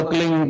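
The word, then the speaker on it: क्लीं: की मात्रा और बिंदी, उसका उच्चारण होगा क्लिंग गा। गा की ध्वनि निकलेगी पीछे। आप अंग बोलो, यहां स्ट्रोक लगता है, अंग बोलो।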